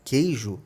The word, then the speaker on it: queijo: só a palavra queijo a letra U presente na palavra queijo não é pronunciada a gente não fala com o ejo a gente fala queijo Então essa letra U